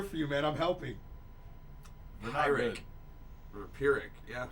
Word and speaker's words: Pyrrhic: A Pyrrhic.